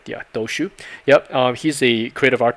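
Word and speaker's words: Dociu: Daniel Doshu, last name is spelled D-O-C-I-U. I think I got it right. Yeah, Doshu.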